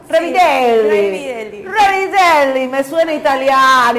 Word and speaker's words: Revideli: ¿Está bien pronunciado? Sí, Revideli.